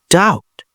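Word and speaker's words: doubt: ডাউট, সন্দিহান।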